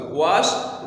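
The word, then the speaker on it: washed: है वो क्या है, श आवाज जो है ये वॉइसलेस है, और जब वॉइसलेस साउंड के साथ ईडी का हम इजाफा करते हैं तो फिर ये ड नहीं प्रोनाउंस होगा बल्कि ट प्रोनाउंस होगा।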